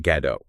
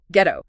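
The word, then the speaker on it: Gadot: And just a quick note, her surname is Gad D R, not Gad. Ghetto. Correct. It's often mispronounced.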